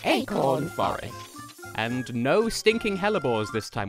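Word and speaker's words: hellebore: stinking helbor this time which by the way is spelled h e l l e b o r e it feels like it should be h e l l a but it's not anyway there were six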